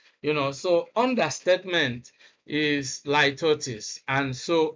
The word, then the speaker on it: litotes: Litotes, please get it right. Litotes, that's actually the correct pronunciation.